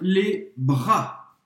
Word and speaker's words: bras: Je m'étire les bras. Les bras. Je m'étire les bras. Você não vai pronunciar o S no final.